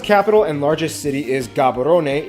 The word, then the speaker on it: Gaborone: Botswana's capital and largest city is Gaborone. If you speak Setswana, it's pronounced Gaborone, located close to the border of South Africa, and the country is divided into 9 districts.